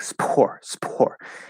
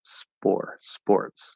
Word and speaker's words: spore: It's because we don't want that air. That's why it sounds like a B, because we don't have that force of air from the voiceless P. So if you pronounce it maybe like a light B, sports, spore, then it's okay.